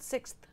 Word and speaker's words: sixth: Sixth. Sixth. Yeah. Sixth. Yes! Sixth. Just saying. There is an X in that. It's being ignored.